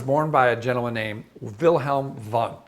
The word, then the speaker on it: Wilhelm Wundt: It was born by a gentleman named Wilhelm Wundt. That's a Wilhelm spelt with a W and Wundt spelt with a W, but he's from Germany. So it's Wilhelm Wundt, which is a much sexier name, if you will.